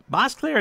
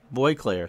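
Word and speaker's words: Boisclair: Bosclair is how I would have pronounced it, but I heard it was either Demos or someone corrected Al. Boyclair.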